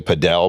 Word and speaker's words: padel: The Latins sort of say it like paddle. And then Americans will say padel, but it's because of paddle tennis. They want to differentiate the two things, so it's a little bit.